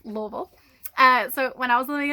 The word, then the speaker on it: Louisville: Louisville, Kentucky, and yes, you're supposed to say it like you have a mouthful of marbles, Louisville. I made the mistake of saying Louisville when I first got